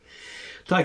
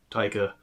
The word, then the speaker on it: Taika: But Thor Ragnarok, he also directed, and Thor Thunder, God of Thunder, funny to the God of Thunder, Taika. It also rhymes with Laika and Riker, kinda.